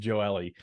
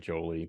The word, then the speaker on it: Joelle: I was just saying I mispronounced Joelle. I said Jolie, but I do that often.